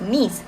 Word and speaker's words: Nice: Well, ladies and gentlemen, if you want to know, it is actually pronounced as Nice, which refers to a city in France.